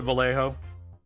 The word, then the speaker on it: Vallejo: some uh mini tubers start actually pronouncing it um with the Y sound instead of the L yeah V yeah oh